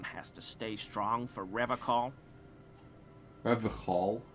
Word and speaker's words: Revachol: to stay strong for Revachol. Revachol? He pronounces Revachol with a hard K, unlike other people. I like to pronounce it the hard way, the old way, the Vespertine way.